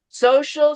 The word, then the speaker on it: social: Social security number. Social Security security number. security number. Yeah, this is that's pronounced like a sh, social.